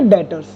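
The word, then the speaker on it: debtors: B silent होता है बेटा इसमें, इसको कैसे रीड करेंगे हम, प्रोनाउंसिएशन कैसे करेंगे? डेटर्स।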